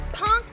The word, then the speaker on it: Plunk: My name is Punk. The L is silent. It's actually Plunk.